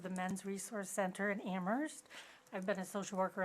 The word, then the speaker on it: Amherst: worries me that if in Ammerst where the H is silent, if the students don't